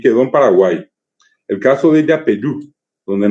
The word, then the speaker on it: Paraguay: Así en el actual Mercosur, Paraguay, cuya verdadera pronunciación es Paraguay. Hasta ahora mucha gente que viene del interior dice Jata Paraguay, Paraguay, Che Paraguay. Esa es la correcta pronunciación de la palabra. Y lastimosamente quedó en Paraguay porque la I no existe en castellano.